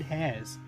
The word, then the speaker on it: Heirs: I said hairs, like as in bunnies? As in your hair, but it's not spelled like that.